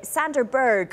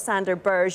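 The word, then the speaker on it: Sander Berge: to pronounce their names hey Sandra Berg we understand it is not sander burrs you can confirm things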